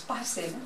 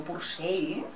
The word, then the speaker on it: Purcell: Como algunos ya sabréis, Parcel, pronúnciese Parcel, no como Purcell, no solo fue un músico genial, sino que además tiene un repertorio tan variado como apasionante.